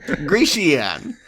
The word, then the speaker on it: Grecian: I think you were adding an extra syllable. Grecian.